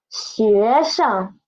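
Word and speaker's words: 学生: Last one is 学生. 学生. 西学学. Sheng, sheng. And sheng is the neutral tone, so pronounce it soft and quick.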